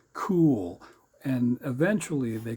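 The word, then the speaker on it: KEWL: K E WL pronounce cool and eventually they call that the cool institute.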